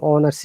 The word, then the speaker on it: honest: orange an elephant an honest degree in honors there is no vowel sound but because h is silent so we have to